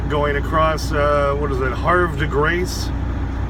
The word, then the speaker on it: Havre de Grace: across, what is it, Havre de Grace. It's spelled like, you know, Brett Favre, Havre de Grace, which, don't get me started on that.